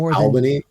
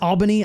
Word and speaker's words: Albany: to be running some satellite gaming Clubs in Albany like I mean we are we're really um I think Alban is it Albany Albany I'm not from here originally dude yeah